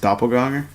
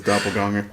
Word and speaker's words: Doppelgänger: You know, it's actually pronounced doppelganger. You know you're full of shit. The bell. It will gong 27 times. The gonger. No, but in all honesty, Used to Doppelgänger. the German pronunciation is doppelganger.